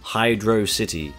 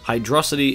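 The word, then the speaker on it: Hydrocity: Yes, it's pronounced Hydro City. Hydrosity is a cool gag on water and velocity, which makes sense, but it's Hydro City. Check the Japanese manual and stuff.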